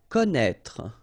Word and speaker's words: connaître: Okay, so you get this accent circonflexe on the top of E here, but then, you don't pronounce it, okay, so don't be afraid by this accent circonflexe because you won't pronounce it.